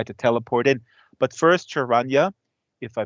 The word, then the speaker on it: Sharanya: you enjoyed it um the correct way to say my name is sharanya yeah and but that's okay uh lots of people even right here in tamil nadu get it wrong so you can call me rania if you're more comfortable